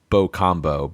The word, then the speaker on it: Bucambo: This is Bocambo, but at least on the subtitles and in the script, it's spelled Bucambo.